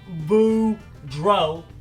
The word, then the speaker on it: Boudreaux: turkeys my name is Boudreaux that's pronounced boo DRO and I'm here to